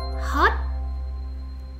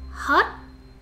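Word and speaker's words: hót: zipper are much shorter hot hot pronounce it with a rising tone hot hot is used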